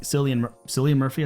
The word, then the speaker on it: Cillian Murphy: But the main actor, I think Cillian Murphy, I think is how you say his name.